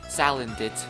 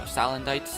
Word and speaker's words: Salandit: It is called Salandit, or Salandite, however you want to pronounce it, Salandit.